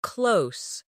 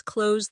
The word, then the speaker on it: close: As an adjective, close means near, like the store is close to my house. The two meanings sound different. The verb rhymes with rose, while the adjective rhymes with dose.